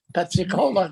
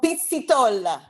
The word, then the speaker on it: Pizzitola: Pezzicola now. No, Pizzitola.